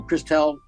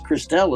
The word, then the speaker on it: Christelle: I got it pronouncing so Crystal pardon me for mispronouncing but where's christelle is saying the same thing find